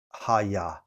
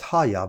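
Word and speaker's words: הָיָה: Uh pronounced haya. So it's pronounced haya.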